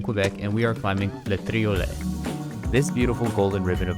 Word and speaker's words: Le Triolet: and we are climbing Le Triolet, this beautiful golden ribbon of ice right here. I spent the first half of this trip pronouncing it Le Toilet, simultaneously thinking that that